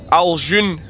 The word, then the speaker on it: Ajloun: Ali, has just told me that it is Ajloun Castle is the name of the castle we're going to, since I keep getting it wrong. So just stopped just short of Ajloun Castle?